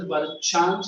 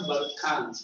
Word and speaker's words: Barchan: That is called as Barchans or Barkhans, whichever you pronounce.